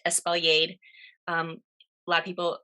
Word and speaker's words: espaliered: still provides a ton of fruit is it's pronounced espaliered um a lot of people mistakenly pronounce it as spilliard that's fine but these are the sort of